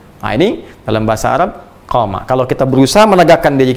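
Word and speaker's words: قام: Jadi qama yaqumu. Qama. Ingat, qama. Ya, bukan titik. Dan qama panjang bacanya.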